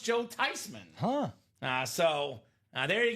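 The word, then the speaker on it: Theismann: He said, "Well, of course it's Tyman. It's a German name." Uh so it is actually pronounced Joe Tyman.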